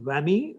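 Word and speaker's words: WAME: write to is the world Association of medical editors pronounced whammy written as WME you could write to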